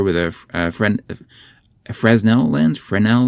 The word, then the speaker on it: Fresnel: Frenel lens I think I've heard people pronounce it Frenel. F R S Nel.